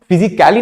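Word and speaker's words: physically: जब भी I, C, A और डबल L, Y के साथ इस कॉम्बिनेशन में अगर कभी भी A आता है तो वहां पे ए का प्रोनाउंसिएशन नहीं होता है. फॉर एग्जाम्पल फिजिकली, इसको हम फिजिकली नहीं पढ़ेंगे. यहां पे ये जो ए आया है इसको हम फिजिकली नहीं पढ़ेंगे, फिजिकली पढ़ेंगे. ए यहां पे क्या कर दिया गया है? साइलेंट कर दिया गया है.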